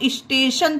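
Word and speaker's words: station: को हम टा नहीं, टी को हम शा पढ़ते हैं फ्रेंड। अब देखिए यहाँ पर टी के बाद IO है ना, इसीलिए हमने यहाँ को टी को शा पढ़ा है। टी के प्रोनाउंसिएशन रूल गाइस हमारे चैनल पर हैं, आप उसे भी चेकआउट करिएगा अगर आपको कोई भी डाउट हो टी के बारे में। ठीक है, तो इसे हम स्टेशन पढ़ेंगे, स्टेशन।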